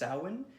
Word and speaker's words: Samhain: award that's right yeah I was us so Samhain this this film it's actually pronounced the real the real festivities pronounced Alwyn but there's a reason why we pronounced the